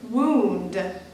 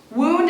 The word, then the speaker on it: wound: the second patter of men is the word wound wound is a noun which is describing an injury